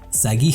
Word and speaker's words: Sagi: No, es Sagi con G. Sagi.